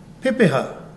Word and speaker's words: pepeha: say with me P we break it into syllables P ha Pepa so a Pepa is